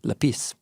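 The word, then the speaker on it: λεπίς: So the word is lapis, emphasis on the second syllable, lapis. Sounds French when you say it that way.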